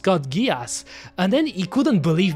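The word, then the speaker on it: Code Geass: Kodgas and then he told me isn't it Kod geese and then I told him no it's gias trust me for sure it is pronounced kudgas and then he couldn't believe me he said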